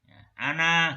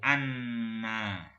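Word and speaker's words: أنا: rahimahullahu subhanahu wa ta'ala, fa in qala ana gitu ya, nggak boleh anna. Jadi walaupun gundul bacanya ana bukan anna. Kenapa? Ya karena khobarnya a'budu bukan na'budu.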